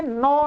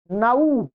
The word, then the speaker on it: नौ: ये नऊ है नौ बोलना चाहिए परंतु हिंदी में नौ नौ चल गया है कि साउंड थोड़ी सी हिंदी की अलग ही साउंड हो गई है संस्कृत में संस्कृत के वर्णों के अनुसार इसका उच्चारण आप क्या करेंगे नऊ तो आप नऊ बोलेंगे हिंदी में किसी के